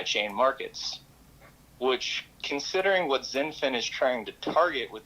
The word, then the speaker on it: XinFin: when so folks when when he's talking zenfin spell that for them so zenfin is x i n f i n and so that is